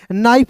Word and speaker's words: knife: इसे क्या पढ़ते हैं दोस्त मेरे, नाइफ पढ़ते हैं। फिर देखिए यहाँ पे PHONE है, तो इसे पढ़ेंगे फोन। देखिए यहाँ पे KNIF है, तो यहाँ पे दोस्तों K को साइलेंट करना होता है।